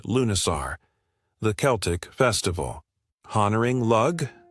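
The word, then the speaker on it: Lughnasadh: Lugnasad pronounced Lunisar, the Celtic festival honoring Lug, the god of light craftsmanship and war.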